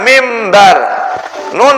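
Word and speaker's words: مِنْبَر: naik di atas mimbar mbar asalnya tulisannya mbar dibacanya mimbarun ketemu ba Nun berubah menjadi suara mim mimbar m mim ba'di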